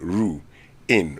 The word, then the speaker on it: ruin: syllables you have the ru Ru in ruin okay I'm hearing the same thing ruin ruin uh so don't bring in roone here the young ones are listening and so if you want to say it right that's definitely how you say it you got it right